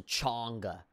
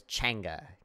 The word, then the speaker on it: chimichanga: say chimichanga chimichanga chimichanga people people pronounce a cheongha but it's Changa chimichanga you're really good